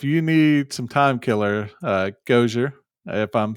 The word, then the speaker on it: Gojzer: Can you spell that again? G-O what? J-Z-E-R. Okay. Kind of like Gojzer from Ghostbusters, maybe?